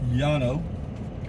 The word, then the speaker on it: Llano: county courthouse Llano County l-l-a-n-o in Spanish pronounced Yano a double l in Spanish is pronounced y I don't know this